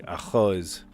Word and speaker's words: arroz: We say arroz, but we don't pronounce it that way with the double R. There is actually no rolled R in Portuguese. You make a guttural sound, like arroz.